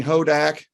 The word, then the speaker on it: Hodak: Our guest is Brittany Hodak, rhymes with Kodak.